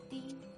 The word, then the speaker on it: 地: Then the plus e makes di.